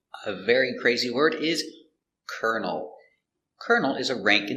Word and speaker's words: colonel: he's a colonel and this word has the same pronunciation but this one makes sense kernel a kernel is a countable piece of corn this is one kernel of corn same pronunciation for Colonel this word has a